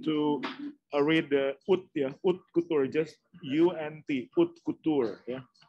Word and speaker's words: haute couture: So I think the right pronunciation to read the haute, yeah, haute couture, just U-N-T, haute couture.